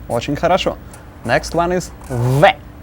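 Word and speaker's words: в: Next one is v. Looks like English B, it's a v. Like English V, but with an e.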